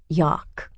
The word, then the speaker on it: Yauk: It's pronounced with a hard K sound, Yauk, and it's usually high and muddy.